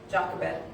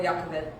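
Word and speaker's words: Jochebed: called the boy's mother jacobed or jacobit depending on how you want to pronounce it then Pharaoh's daughter said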